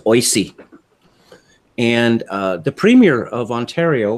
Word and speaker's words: OISE: which is commonly referred to by its acronym pronounced oise and the premier of ontario before the recent